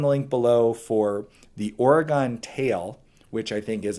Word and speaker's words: Oregon: I should be pronouncing it right? It's Oregon. It's not Oregon. Oregon.